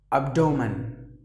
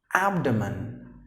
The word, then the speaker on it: abdomen: Now usually people say that as abdomen, which is wrong. And the right way to say is abdomen.